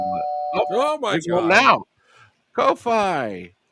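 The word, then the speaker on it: Ko-fi: Now, Kofi Coffee. Does anyone know how to pronounce this? I'm sure it's coffee. It's coffee. Are you sure? It's Yeah, it's coffee. It's got a little coffee cup.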